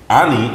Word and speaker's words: Any: Her name is A-N-Y. Yes. Why? Yes. Why is it spelled like that? Well, it's Spanish. It's Spanish. It's pronounced so Annie.